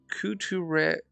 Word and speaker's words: couture: So it's Couture.